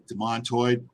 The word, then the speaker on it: demantoid: And the is it demantoid, or is it, how are you pronouncing it? Demontoid. You know, I think this is English versus American English. It's essentially all the same. It's demontoid. And Demantoid sounds grander.